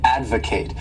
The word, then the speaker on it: advocate: verb is to Advocate this word has three syll abl and the stress is on that first syllable Advocate and to Advocate means